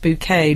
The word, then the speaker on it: Bucket: just realized H bucket wants her last name pronounced buet not just because bucket is a vulgar word but because a highin